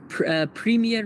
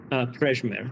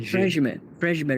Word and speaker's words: Prejmer: And this is Premier Raceway? Is that how you say it? You pronounce it Prejmer. That's a J. Prejmer Raceway.